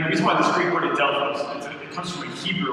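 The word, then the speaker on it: ἀδελφός: Now, when it says that the brothers of James and Joseph and Judas, that word brothers in Greek is Adelphos. It's spelled A-D-L-P-H-O-S, Adelphos.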